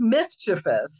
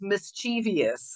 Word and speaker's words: mischievous: I know it yeah it's mischievous and he says mischievous and I just go like no there's not an eye there it just makes me